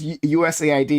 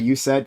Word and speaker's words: USAID: into that topic tonight yeah uh Charlie It's pronounced usaid not you said I think you said that originally just wanted